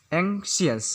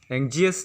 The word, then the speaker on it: anxious: इसके बाद 21 नंबर पर हम लोग का वर्ड आता है एंग्शियस, जिसका स्पेलिंग होता है ANXIOUS, एंग्शियस। इसे इंग्लिश में लिखा जाता है ANKSES। इसे एंग्शियस पढ़ना चाहिए, एंग्जियस नहीं। अगर हम इसका अर्थ होता है इच्छा, वांट, हो गया।